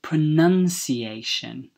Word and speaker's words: pronunciation: enunciation so to say this word correctly you say pronunciation and in the verb is to pronounce an